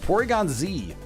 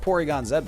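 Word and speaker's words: Porygon-Z: Ooh, Porygon Z, not pronounced Porygon Zed, by the way.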